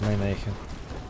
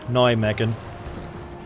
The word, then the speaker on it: Nijmegen: They are pushing across towards Nijmegen. Sorry, Nijmegen. Always makes me chuckle how British people pronounce that.